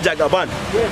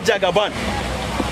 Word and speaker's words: Jagaba: Even this, my cap, is carrying Jagaban. It is not Jagaban. In Hausa, the actual, I think, pronunciation is Jagaba.